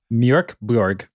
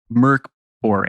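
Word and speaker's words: Mörk Borg: Mork Borg.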